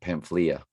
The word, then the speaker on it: Pamphylia: I mean, you got the L after the F sound, Pamph, E. Figure it's going to make a E sound. And then Elia. So maybe the Y is silent, Pamphylia.